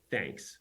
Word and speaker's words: Thnks: co-founder and CEO of thanks which is uh thnks pronounced like you know thank you yeah that's awesome okay